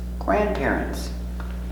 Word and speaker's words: grandparent: Grandparents. G, ger, gra, gran, p, grandp, heir, grandpair, grandparent, grandparent, grandparent. Grandparent, one grandparent. Remember, the D is silent, no D. Grandparent.